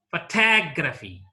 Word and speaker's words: photography: Anti-penultimate syllable. Photography, photography.